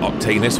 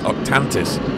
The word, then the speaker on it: Octantis: angle it looks spectacular I still have no idea why I'm calling octaneous but it's actually called octantis I can't pronounce that